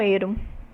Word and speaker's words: eiro: primeiro deles é Limoeiro o sufixo eiro é pronunciado quase sempre como Hero Então o que acontece